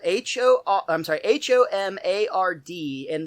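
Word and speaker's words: homard: spelled h-o-o i'm sorry h-o-m-a-r-d and the d is silent so it's pronounced tomar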